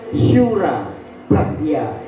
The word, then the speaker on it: Surabaya: ada syin ya Nah itu bacanya Yang betul Sura bahya nah Sura bahya Oke next nah